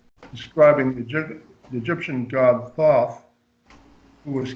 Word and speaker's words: Thoth: be learned from Thoth I don't know if I'm pronouncing that totes I like Thoth yeah it's like thought like dropping saucer you